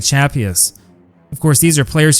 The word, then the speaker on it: Chappuis: Chappuis, not pronounced Chappuis like in French, but good old American Chappuis, was an incredible player.